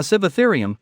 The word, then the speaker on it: Sivatherium: A Sivatherium, pronounced Sivatherium, was a kind of dinosaur that roamed